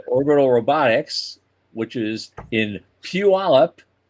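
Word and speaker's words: Puyallup: But Orbital Robotics, which is in Puallup, I got the pronunciation right.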